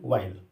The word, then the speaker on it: while: इसके लिए एक छोटा सा वर्ड यूज होता है, WHILE, वाइल। H साइलेंट रहता है, यस, वाइल।